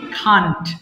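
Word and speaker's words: can't: সো উচ্চারণটা হবে কি কান্ট। আমরা ক্যান নট কে যখন একসাথে বলবো তখন এটাকে বলতে হবে আই কান্ট বলবে।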